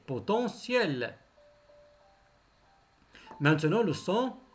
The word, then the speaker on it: potentiel: matériel matériel potentiel potentiel est toujours le thé se prononcer potentiel maintenant le son l